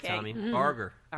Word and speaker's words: Barger: Barger.